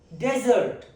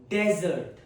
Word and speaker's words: desert: It is first pronunciation is desert. Desert. It's used as a noun in a sentence meaning a dry sandy baron region with little rainfall. Example, the Sahara is the world's largest hot desert. Desert. Then we have pronunciation two which is desert. Desert. Okay. Stress on second label it is a verb.